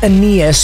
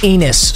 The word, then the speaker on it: Aeneas: receiver it's Amos Williams yes I know it's pronounced Aeneas but I'm gonna pronounce it anus so I really don't care what you have